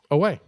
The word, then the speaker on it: Oa: It's pronounced OA. No, that is a lore fallacy. It's not a lore fallacy. That's how they pronounced it in multiple Green Lantern movies. Yes, and they're all wrong, because I'm from the old school Green Lantern. It's pronounced Owen.